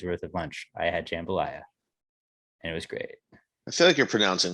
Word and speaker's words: jambalaya: like two days worth of lunch i had jambalaya and it was great i feel like you're pronouncing that weird jambalet jambalaya i don't know now in my like in my head i feel like it's jambalaya and you're not it's actually like i was